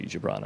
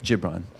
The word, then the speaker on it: Gibran: I think it's a soft G, Gibran, I think. Gibran.